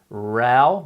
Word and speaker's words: row: the political Rao ok be careful with the pronunciation Rao meaning argument ok that word can also mean row so for example if you row your boat but here the word